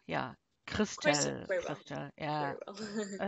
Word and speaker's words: Christel: It's Christel. Yeah. Christel.